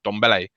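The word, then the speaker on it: Dembélé: that's how you actually pronounce it it's actually pronounced donbelle so yeah that's the correctness that's how you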